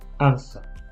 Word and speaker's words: answer: i couldn't answer it remember the w is silent so the pronunciation is answer 10 a or b